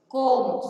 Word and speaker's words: comb: These letters are called silent letters. Now, for example, H-O-N-E-S-T, honest. R, H-O-U-R, knee, K-N-E-E, no, K-N-O-W, comb, C-O-M-B, bomb, B-O-M-B.